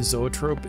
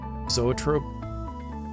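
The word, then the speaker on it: Zoetrope: Zoot Trope is going is that how you pronounced that zoat Trope zoat Trope no to future self look it up and here is a space where I pronounce it correctly zoat Trope thank you future me and now let's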